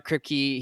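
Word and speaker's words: Kripke: superheroes and Society the boy season 4 ER kpy he's the Creator I think that's how you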